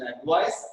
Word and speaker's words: advice: Okay, so please observe the difference between the pronunciation between advice and advise.